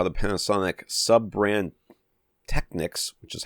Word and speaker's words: Technics: So you heard it said out loud many times, and it was always Techniques. So we've been saying it wrong. I've been saying it wrong my whole life. Me too. Technics. Yeah. Techniques. I have heard it pronounced that way. That's not totally foreign to me or anything like that.